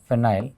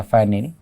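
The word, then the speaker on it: phenyl: तो हम यहाँ कहेंगे ट्राई फिनाइल या फाइनिल, प्रोनाउंसिएशन का फर्क है दोस्तों को केवल एमीन।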